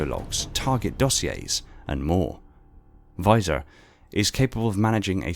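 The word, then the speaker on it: VISR: systems visual intelligence system reconnaissance abbreviated to and pronounced as visor is a specialized data management system for Meir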